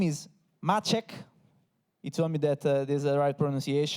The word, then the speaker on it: Maciek: His name is Machek. He told me that there's the right pronunciation.